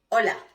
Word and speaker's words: hola: La H in Spanish have no sound whatsoever, okay? So, por ejemplo, hola, hello. Hoy, today, is not hola or hoy.